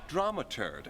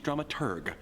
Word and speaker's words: dramaturg: our stage manager slash dramaturd the correct pronunciation is dramaturg the researcher of the